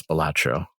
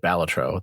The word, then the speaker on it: Balatro: attention and that is balatro or batro I guess he pronounced it batro the the developer yeah at the game awards we were all pronouncing it wrong this whole year that's right I want to take away my vote now had I known that was the correct way to pronounce it no no or do